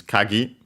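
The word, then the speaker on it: 鍵: to the following noun which is kagi its fundamental meaning is uh uh accented by the way on uh the last syllable.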